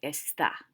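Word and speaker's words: está: to use esta and make sure you have that accent mark over the a and it's pronounced estha i'm only going to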